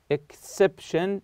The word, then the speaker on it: exception: So exception here, this is the CEP, this is the stressed syllable, of course.